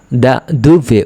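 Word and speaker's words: da dove: থেকে যখন প্রশ্ন করবে তখন কিন্তু ইতালিয়ানরা দা দু ধুভে উচ্চারণ করবে ধুভে মানে হচ্ছে কোথা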